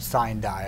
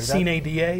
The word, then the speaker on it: sine die: What I always pronounce it sine die. I think there are some different pronunciations of the Latin there. Sine die is, I think, the appropriate Latin pronunciation.